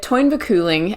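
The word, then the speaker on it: Táin Bó Cúailnge: Okay, so the Toyn Vaculing, as it's called in the Irish, or the Toyn, I'm probably going to just refer to it as the Toyn. It's spelled in a really weird way, so it's T-A-I-N space B-O space C-U-A-L-I-N-G-E. Toyn Vaculing. It's a weird Irish spelling.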